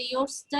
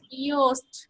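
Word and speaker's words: Yoast: প্লাগইনটা check করতে হবে যে ইয়োরসটা কি ইনস্টল করা আছে কিনা, তাই না? ইয়োরস, জি ম্যাম। আমি না ইয়োরসটা ঠিকভাবে উচ্চারণ করতে পারি না, কেমন যেন হয়ে যায়। মুরগির রোস্ট বলেন, সমস্যা নাই। ইয়োস্ট, তাই না?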